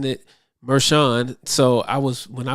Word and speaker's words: Merchan: attorneys for saying in a previous interview that Merkin Maran that's that's how he pronounced it I kept hearing it in the news and they was pronouncing it meran so I was when I was saying Merkin